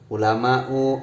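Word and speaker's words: علماءُ: Ulama'u, auliya'u kan diakhiri alif hamzah ini namanya alif mamdudah. Nah, makanya di sini tidak dibaca ulamaun, tidak, tapi ulama'u.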